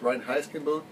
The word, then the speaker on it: Reinheitsgebot: Now, I have to wonder, we've all heard of the, I believe it's pronounced Reinheitsgebot, the German purity law of 87, 97?